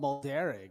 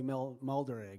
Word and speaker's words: Mulderrig: Bob Mulderrig. That's the correct way to pronounce it, by the way. I like saying it. I know. I do now too. I used to say Mulderrig. Yeah, don't do that.